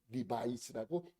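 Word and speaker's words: Levi's: 그래서 레비 스트라우스의 약자를 따서 영어식 발음으로 읽게 되는 것이죠. 리바이스라고 읽게 된 것입니다.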